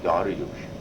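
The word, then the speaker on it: Dariush: And so it's spelled Darius. Darius is of course the anglicized is Darius or Darius, D-A-R-I-U-S, and then what we say D-A-R-I-U-S-H, Darius, and that was the harmony of the great king.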